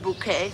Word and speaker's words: Bucket: in stitches thanks to the unusual pronunciation of her last name there's usually something for a Mrs Richard bouquet how do you spell bouquet b u c k e t on b u c